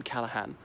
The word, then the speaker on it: Callaghan: There's a silent G in Callahan.